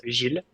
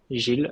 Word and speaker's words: Gilles: And the right way to pronounce it, it's a bit tricky, but it's Gilles. Gilles.